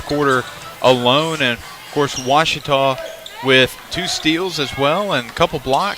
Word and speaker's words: Ouachita: for was Baptist University back in Texas everybody pronounces it witch but really it's was was how would you pronounce it was it's